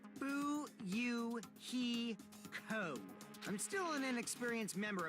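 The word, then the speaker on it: Fuyuhiko: My first name is pronounced Bu Heo.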